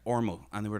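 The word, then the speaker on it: Ormeau: which we lived off called the ormo road but the ormo road was o-r-m-e-a-u and the guy that ran the place was like ormo and they were like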